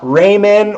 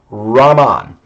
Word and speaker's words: Raman: really point out that this is not raymond or ramen um i've right for 10 years i've been listening to students mispronounced this so this technique is named after chandra sikahara raman an indian scientist he